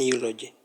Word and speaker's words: eulogy: having a pronunciation of letter H, consonant letter. So we put article a to become a eulogy, not an eulogy.